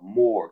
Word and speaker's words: more: C'est comme ça qu'il faut le prononcer, genre more, tu vois, avec Ah, la bouche en rond, en fait, si tu veux.